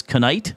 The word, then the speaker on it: knight: Well, that's why we have these silent letters.